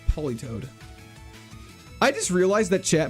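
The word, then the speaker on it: Politoed: Peel o toad. It's polytoad.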